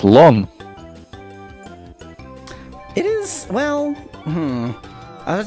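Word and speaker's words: слон: It's pronounced slon.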